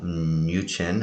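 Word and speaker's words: Mnuchin: says trump ex-treasury secretary uh new chin i think that's how you pronounce it what seems to be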